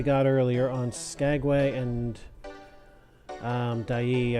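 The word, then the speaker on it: Dyea: earlier on Skagway and dyi I believe it's pronounced after looking it up which of the two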